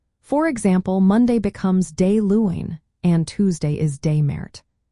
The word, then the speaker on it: Luan: Starting with Monday, we say Luan, pronounced Luin.